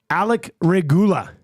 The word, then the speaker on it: Regula: that even better mhm Alec regula emphasis on goo goo regula all right what do